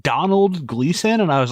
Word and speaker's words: Domhnall: I thought you were saying Donald Gleason, and I was like, you fucking idiot. And I was like, oh, Domhnall. That's Scottish as fuck. I think it's pronounced Donald, Donal, like Donald.